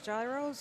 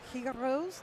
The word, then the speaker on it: gyros: Perhaps some lamb meat for gyros or gyros, depending how you pronounce it.